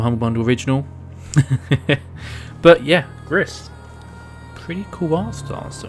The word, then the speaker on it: Gris: It's just four letters, G-R-I-S, so I'm going to say Gris.